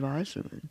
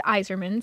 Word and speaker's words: Yzerman: Steve Eiserman. Yeah, he I said said- Yzerman. Oh, did I? Yeah. Oh, I I know it's Yzerman, Stevie Y, but he said he Stevie actually Y. pronounced the Y.